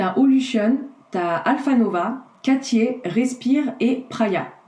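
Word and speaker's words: Praia: Tu as aussi New, tu as Olution, tu as Alphanova, Cartier, Respire et Praya. Praya, ça s'écrit P-R-A-I-A.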